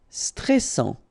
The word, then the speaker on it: stressant: Stressant. Okay, final T not pronounced, and then A-N-N, stressant.